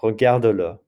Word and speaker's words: regarde-le: And notice that you're going to pronounce that mute E that you usually don't pronounce with a little, like a little pickup vowel. Regarde-le.